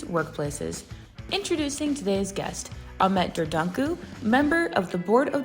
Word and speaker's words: Dördüncü: My name is Ahmet Ahmet Dorduncu, as you rightly pronounced it.